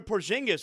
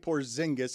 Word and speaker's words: Porzingis: But still, are you pronouncing that differently? And that sounded totally insincere. I hope he's okay. Can you please I say it Porzingis. I don't say it Porzingis. I say it the right way. Okay. I I What do you know? I actually believe that he's saying it correctly and I'm saying it wrong.